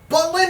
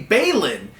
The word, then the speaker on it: Balin: It should be Balin, since, all the other Derbyton names don't just rhyme with Lin, they have the A-Lin sound.